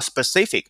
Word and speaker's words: specific: 对不对是你需要怎么去学对吧要学的内容是什么这是我们学的第2点就是我们看下面一些单词比如说“具体的”specific之前讲过不要忘了同学们不要读错发音了 specific 一定要准确的发出来 okay specific 包括下面的“不得不”怎么读 have to have to